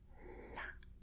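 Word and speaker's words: 辣: This one la la la first tone la la I really love spicy food.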